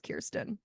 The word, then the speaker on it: Kirsten: the conversation around her I'm hearing a lot of kirens and I'm just like have I been saying it wrong but I'm like I'm pretty sure she says Kiren like it's it's Kiren digress but yeah I'm